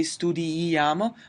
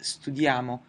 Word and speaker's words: studiamo: the noi person I'm not gonna say studi-i-amo, but just studiamo and then studiate and studio is regular.